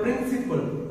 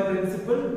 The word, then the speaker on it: principal: When you say this is my principal name, okay, so and so. So what do you say? Principal, not principal. The spelling at the end is P-A-L, but still it is pronounced principal.